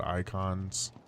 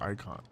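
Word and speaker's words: Eikon: game are called they're called icons but spelled with an e oh you know what wait it's always I wait it's e-i-k-o-n-s so they're called icons they're five yeah yeah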